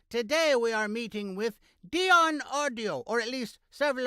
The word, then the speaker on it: Deyan: I've heard so many people pronounce it either Dian Deon Dion how how do you pronounce it correctly Dion Dion yes Dion okay like the 50 singer